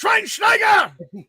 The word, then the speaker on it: Schweinsteiger: It's pronounced Schweinsteiger.